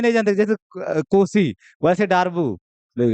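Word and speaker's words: Darboux: बड़ा मतलब चीप सा प्रोनाउंसिएशन लगता है। डारबू बट है तो है उसका नाम। ठीक है? अब है तो है डारबॉक्स अच्छा लगता है बट वो इंडियन एक्सेंट में है।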